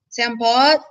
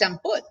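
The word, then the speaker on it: សំពត់: And you're kind of like, is this how you say this? Is this, sampot? And you're not sure, then they're going to correct you to whatever their way of saying it is. Oh, no, it's samput.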